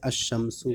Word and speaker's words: الشمس: کر کے پڑھیں گے، یعنی لام کا تلفظ نہیں کریں گے. جیسے الشمسو کا الف لام.